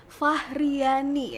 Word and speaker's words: Fahriani: Nabila namanya? Fahriani. Oh Fahriani. Bener. Salah nih. Aku kan iya. bacanya dari produsernya. Oh, Fahriani. Iya, Fahriani, benar.